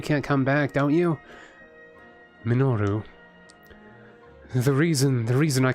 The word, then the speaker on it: Minoru: Minoru. Minoru. Minoru. Minoru is hard to say fast. Minoru. Minoru. Why can't I say it like normal? Like why does it have to be three syllables and weird?